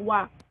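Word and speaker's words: は: yang pertama itu adalah partikel wa walaupun tulisannya H dibacanya wa ya teman-teman Nah partikel ini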